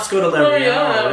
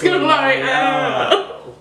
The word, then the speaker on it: Scodelario: It's pronounced Scodelario. She is British. So it's not Scodelario. It's Scodelario.